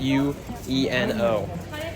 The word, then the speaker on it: Ueno: I think it's pronounced Ueno.